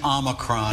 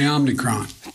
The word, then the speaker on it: omicron: name of this variant most people are pronouncing it omi omicron the name is omicron this new omicron it's called the omnicron omnicron that was biden